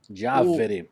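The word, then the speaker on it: Giaveri: Diaveri. Diaveri, e o Instagram deles é caviardiaveri.brasil. Diaveri só pra... como é que se escreve aqui?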